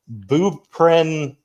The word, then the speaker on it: buprenorphine: It's buprenorphine. Buprenorphine. Yeah. Boo. It's spelled Buprenorphine.